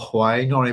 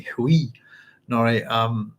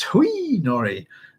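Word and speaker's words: Hwi Noree: how you pronounce, or how I've been pronouncing who I'll call Huai Nori, but is actually Hui Nori. That's on one of these here. It's actually very funny. And how do you pronounce it? The answer is like Hui, according to Frank Herbert.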